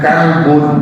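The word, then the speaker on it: كلب: Ya, misalnya kolbun dengan kalbun beda, huruf satu huruf saja. Kolbun hati. Kalau kalbun anjing beda Pak.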